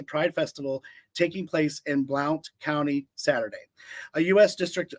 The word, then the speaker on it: Blount: I can't say Blout. B L O U N T. Is that how you say it? Sounds like Blount. Blout. They probably say Blount, Blount County in Tennessee.